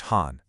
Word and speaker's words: 邯: The first one, pronounced Han.